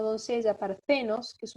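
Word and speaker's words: παρθένος: Pero pasemos, por ejemplo, a la virgen o doncella parcenos, que es una palabra paroxítona porque tiene acento agudo en la penúltima sílaba.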